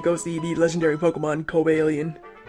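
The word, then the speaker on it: Cobalion: legendary Pokemon Kobe alien I know a lot of people pronounce that different it's like kobalian cobalian I like obalian I think it sounds like sort of weird but it sounds pretty cool as well and uh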